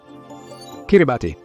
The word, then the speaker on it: Kiribati: Kiribati. Y sí, así es como se pronuncia.